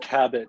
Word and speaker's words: Kabat: to scotland thanks michelle by the way it's cabot but it's commonly mispronounced so it's quite quite all right nice